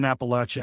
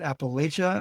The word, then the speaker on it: Appalachia: true of Appalachia and I want our listeners to take careful not of how we're saying this word um because if you pronounce it Appalachia I'll throw in Appalachia or Appalachia. You get that one a lot.